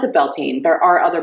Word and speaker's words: Bealtaine: Well, I pronounce it Bealtaine.